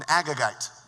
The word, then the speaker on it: Agagite: probably because he is uh how is it pronounced Carrie an agagite thank you an agagite which is mortal enemy of the Jews isn't